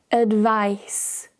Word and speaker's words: advice: Notice when we talk about the noun, there's no vibration. Advice, advice. However, the verb has vibration. Advise, advise.